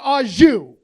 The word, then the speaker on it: au jus: A French dip is so luxurious, that shit comes with its own dipping sauce, and that dipping sauce is pronounced au jus.